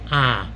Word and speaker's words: Ai: Joshua sent the men from Jericho to Ai. That's all I ever say of it. It's spelled like AI.